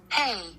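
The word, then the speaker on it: hei: Oh, and this is how you say hi in Finnish. Hey. Hey! Hey! Turns out they just say hey. Hey. It's spelled H-E-I.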